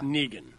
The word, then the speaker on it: Negan: I can't really be intimidated by a guy named Negan, like Megan. Yeah. Like Megan with an N, and it's like, no, it's Negan. Yeah, it's Negan. And finally, and I'll be